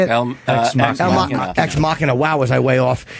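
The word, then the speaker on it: Ex Machina: comedian friend of mine told me to watch El Machina. Is that how you say it? X Machina.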